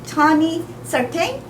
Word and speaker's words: Tony Certain: And we have here at Tony Certain. Yes. Is that how you Yes. pronounce it? Yes, I got it right.